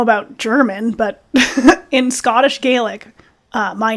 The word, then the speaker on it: Gaelic: But that's even things like that is like you realize like we keep saying Gaelic. It's not how it's pronounced. It's Gaelic.